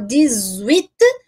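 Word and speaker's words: dix-huit: aí Vera Visit with se escreve com h tá pessoal então h u i t para falar oito né então eu falo desuit tá com 10 e 8 ali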